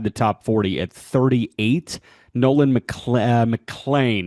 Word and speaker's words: Nolan McLean: Nolan Mlan, not Mlean, Nolan Mlan of the New York Mets, like Matt Mlan, but it's spelled man.